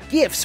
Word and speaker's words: gif: And gifs for my teenage son to enjoy the trick tracks. Oh boy, okay. One thing at a time. It's pronounced memes and gifs with a hard G.